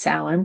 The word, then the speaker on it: Samhain: So, because we're celebrating Samhain tonight also, and if you've ever seen it spelled, it's spelled like Samhain, pronounced Samhain, because it's one of those Celtic words.